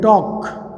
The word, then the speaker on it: talk: फिर वर्ब है बातें करना, से बोलते हैं टॉक, TALK साइलेंट रहता है इसमें, टॉक।